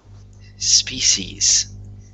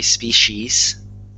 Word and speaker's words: species: So you can say. Species, like a an sh, species.